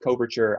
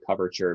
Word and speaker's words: coverture: Sometimes pronounced coverture. I say coverture because it literally means that a wife is covered under the authority of her husband, right?